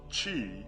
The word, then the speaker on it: Qi: section 12 Chi chakras Qi pronounced Chi is a Chinese word for the life force